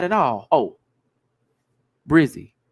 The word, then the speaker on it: Brzy: Oh, Brizzy. The person Brizzy, which is spelled Brzy.